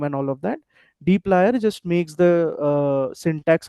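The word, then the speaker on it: dplyr: This is pronounced as dlier.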